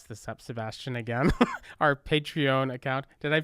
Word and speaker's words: Patreon: going to mess this up, Sebastian, again, our Patreon account. Did I pronounce it correctly? No. Patreon.